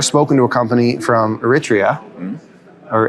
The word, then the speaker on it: Eritrea: we have never spoken to a company from Eritrea or Eritrea. Am I pronouncing it right? Eritrea, yeah.